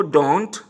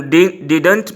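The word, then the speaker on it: didn't: डू नॉट को डोंट, does not को doesn't, डिड नॉट को डिंट, हम डिडंट भी बोल सकते हैं, और डिंट। जो सेकंड ड है वेरी साइलेंट है, डिडंट, डिंट, राइट।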